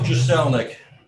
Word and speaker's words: Jaselnik: The last name is Jaselnik. Jaselnik, okay, thanks.